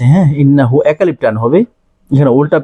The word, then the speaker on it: إنه: فسبح بحمد ربك واستغفره ইন্নাহু এখানে একটা টান আছে হ্যাঁ ইন্নাহু একালিপ টান হবে এখানে